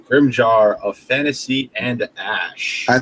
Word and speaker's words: Grimgar: It's with a G. And I could have sworn I read it with a fucking J. A J. Maybe they switched in a J at some point, but they definitely pronounce it Grimgar in the show.